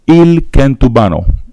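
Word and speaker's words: El Kentubano: publication for me again the name name is il kentubano the combination of kentu and kubano IL Kento if you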